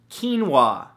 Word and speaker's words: quinoa: beautiful thing number two quinoa spelled k-e-e-n-w-a-h no that's not how it's spelled at all but it should right come on english now